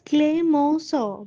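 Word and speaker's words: Clemenceau: Now this is pronounced as Cleos but the spelling is Clemensio.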